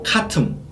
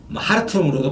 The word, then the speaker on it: 하르툼: 수단 공화국은 수도가 카툼, 하르툼으로도 발음하죠. 하르툼이라고도 발음하고 카툼이라고도 발음하죠. 카툼, 하르툼이고 면적은 189만 평방제곱킬로미터로 아주 큰 나라입니다.